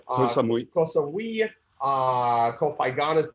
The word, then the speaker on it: Koh Samui: I can never pronounce these Thai islands correctly. You're right, Koh Samui.